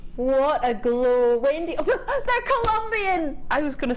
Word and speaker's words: Colombian: emerald from Colombia that's you can't just say colian Colombian emerald you have to say it like that when you get